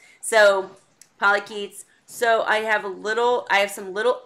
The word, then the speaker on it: polychaete: Polycheats. Polycheats. So I have some... Polychaete. Polychaete. Thank you. See, when I hear it, I know it. But if you write it, I'm like, what? All right. So, polychaetes.